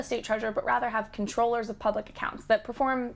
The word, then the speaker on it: comptroller: as comptrollers which is technically supposed to be pronounced controller but is almost always pronounced comptroller anyway the auditor general